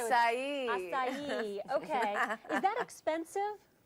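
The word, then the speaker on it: açaí: We didn't know if it was acai or what, but it's acai.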